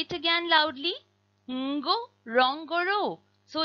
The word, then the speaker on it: Ngorongoro: When a word starts with ng, as does ngo, rong, goro, you will pronounce that n but without sneaking in a vowel between the n and the g.